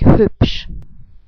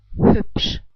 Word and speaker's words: hübsch: You learned from my other video that the SCH is pronounced like sh in shy. So let's try to put this all together. We would pronounce it like hübsch. I say it again, like hübsch.